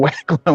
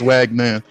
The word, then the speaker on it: Wagner: I'm calling him fucking Wagwan when it's Wagner.